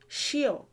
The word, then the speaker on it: ṣíọ̀: also hear shio so it might either be pronounced shio shio or shio and i'll try to cover cover why briefly just to show you why those different pronunciations exist but um when you hear shio or shio just know that they are the same there's no difference it's just a dialectical difference if you try to